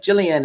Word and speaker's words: Gillian: I have a survey going at my website, Gillian Worldwide. This is live. So it's Gillian with a damn G. Okay, it's not a J, it's a G. It's a soft G.